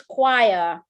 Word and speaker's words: choir: Because the choir pronounces k, but others correct. Wow, pronounce k. excellent. Good job. So CH, right? Not all the CH pronounced as ch, right? But this one is choir.